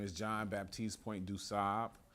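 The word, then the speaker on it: du Sable: black guy his name is John Baptist point duab it's okay Chicagoans pronounce it dubu but uh the Haitians wouldn't like it if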